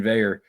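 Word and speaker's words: Veilleux: Shout out to Christian Veyer, which is, again, the weirdest last name to pronounce with the way it looks. That's French Canadian. Not how it looks. No, not in the least bit.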